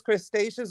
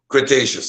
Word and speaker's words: Cretaceous: that's all I said that is Crustaceans or Cretaceous Cretaceous sorry Cretaceous Ontario Seaway the um